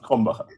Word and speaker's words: Krombacher: It's pronounced Krombacher. So they actually serve that at my favorite pizza place in town. My husband often enjoys a Krombacher.